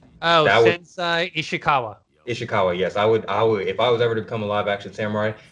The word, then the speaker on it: Ishikawa: action samurai, I would be I can't Lord Irishawa. Is that it? Is that am I pronouncing his name right? which Pronouncing guy? the bow master. Oh, That would Sensei Ishikawa. Ishikawa.